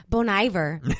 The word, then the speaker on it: Bon Iver: yeah come on here you guys and be bon iver I heard him say it at a live